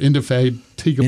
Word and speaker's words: indefatigable: He is sober, indefatigable. That helps. Yeah, it's always good to be sober when you're checking things out. Yeah. I'll have trouble pronouncing this word. Indefatigable.